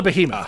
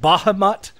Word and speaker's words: behemoth: game gets in my head it's called a behemoth it's spelled like behemoth it's behemoth and for some weird reason the voice actor pronounced it bahamut released the or behave that was it he